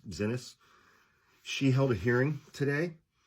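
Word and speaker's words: Xinis: Uh her last name is spelled X I NIS, I guess, Zenis.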